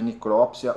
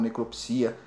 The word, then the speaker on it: necropsia: temos o auxiliar de necrópsia ou necropsia a as as duas pronúncias estão certas mas lá no Espírito